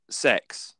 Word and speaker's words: CeX: chain in the UK it's called sex and it begins with a c instead of an S oh yeah c-e-x I